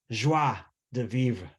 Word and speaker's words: joie de vivre: Joie de vivre. Did I pronounce it right?